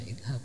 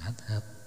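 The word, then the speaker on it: اذهب: Kok langsung baca idhab, bukan adhab dan semacamnya.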